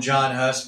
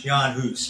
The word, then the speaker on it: Jan Hus: We speak English, so I'll call him John Hus, but it's not the correct pronunciation of his name. It's Jan Hus, but we'll call him John Hus.